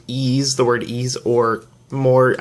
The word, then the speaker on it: Ys: Been Told it's actually a little bit closer to the word fleece but without the FL so just the East